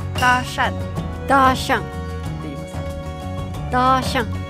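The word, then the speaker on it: 搭讪: ナンパをえっと中国語で言うとダシャンダシャンって言いますダシャンはいこの発音ってやめとくわ何何何いや私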